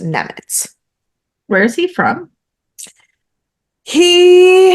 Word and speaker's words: Nemec: So I said Nemec, but I believe it's actually pronounced Nemetz.